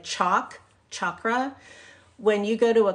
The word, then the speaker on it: chakra: discuss a a chakra or it's it's actually pronounced chakra CH H like chalk chakra when you go to a class and and